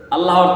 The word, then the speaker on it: আল্লাহ: আল্লাহর নামের তাসবিহটা কেমনে পড়বেন? যেমন আল্লাহু আল্লাহু আল্লাহু আল্লাহু আল্লাহু আল্লাহু, এইভাবে। কিন্তু অনেকে পড়ে আল্লাহ আল্লাহ আল্লাহ, কিন্তু না, এটা তো আল্লাহ শব্দের উচ্চারণ ভঙ্গিমা নয়।